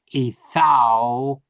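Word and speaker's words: ܐܝܬܝܗܘܐ: Now, all I'm saying is ethau. I don't pronounce this letter or this letter. It's silent. Ethawa. And this is silent here with this line passing over it.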